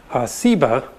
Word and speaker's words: Seba: related that has just a different S sound, Seba.